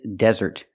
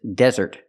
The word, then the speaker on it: desert: the first word is Desert we put the stress on a first syllable de desert the S